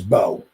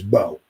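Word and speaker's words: Mbow: But Marcus, I think it's Bo. It looks like it's M-Bo, but Marcus Bo. I guess the M is silent.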